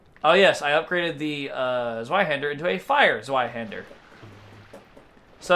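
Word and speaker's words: Zweihänder: You're pronouncing Zweihander like bad. What, Zweihander? It's pronounced Zweihander. What? Who fucking cares? It's a sword! It's German.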